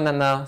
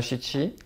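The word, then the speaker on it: 七: dans le cas du 7 qui pourut se prononcer soit nana soit Chiti en fait les deux nombres comportent le l'ichanashi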